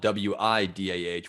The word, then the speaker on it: Whydah: town is spelled o-u-i-d-a but it's pronounced the same way wida so it sounds like